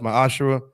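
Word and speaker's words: מעשר: numbers 1821 Malachi 38-10 means 10th in Hebrew pronounced my ashaa 10% of any Penny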